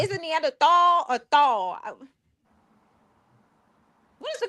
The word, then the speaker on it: Neanderthal: So it's Neanderthal. Yeah, it's Neandthal with a T or a D. T I pronounc it Nandthal.